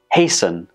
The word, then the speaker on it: hasten: we have fasten fasten hasten hasten and christen there is no touch sound in any of these words when we pronounce them the T in the spelling is completely silent so the general rule